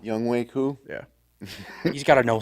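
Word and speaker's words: Younghoe Koo: Then you got Young Shuku.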